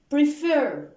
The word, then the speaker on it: prefer: We have the verb prefer, okay?